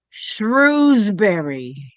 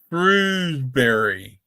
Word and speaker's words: Shrewsbury: Shrewsbury. Shrewsbury. Like shrew, like a shrew.